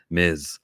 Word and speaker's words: Ms.: a two-letter word and if you pronounce it miss you're saying it wrong it's ms marvel so